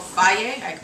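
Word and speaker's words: Fage: Greek yogurt it's called f it took me forever to figure out how to say the f a g e but it's F I believe um and so this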